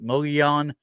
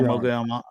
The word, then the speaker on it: Mogollon: So this one, Sasquatch at, I always have problems pronouncing Mogollon Rim. MGOLLON. And we know Mogollon. Yeah. And every time I pronounce it wrong, Mogollon, it depends on who you're talking to.